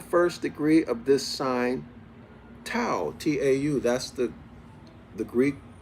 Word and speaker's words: Tau: From whence all, Allah, all one and alone, was then in the first degree of this sign, Tau, T-A-U. That's the the Greek pronunciation of Ta, okay, it's a remix of Ta, which is the ancient Ibaryath.